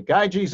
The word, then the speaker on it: Gyges: of guy Jason and probably this would have been pronounced guy DS but in any case we typically say guy G's in the story is